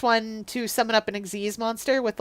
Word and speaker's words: Xyz: though, now is that Xyz monsters exist. I understand that's the proper way to pronounce that. I like to call them XYZ or Gz monsters, depending on how I'm feeling about them, because I think it's funny.